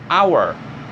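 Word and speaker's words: hour: aqui também é mudo ele é mudo ou seja eu não falo se ele tá ali de enfeite para um se vo eu vou ler esse aqui como our our então é nauer é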